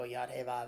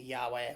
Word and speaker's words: Yahweh: which is yahweh again do not spell it don't go yadava it's a yahweh one word or ye or some other variation it's a word it's a point it's a word of power not a spelling of power and um